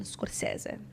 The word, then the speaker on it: Scorsese: And by the way, that's Italian, Scorsese.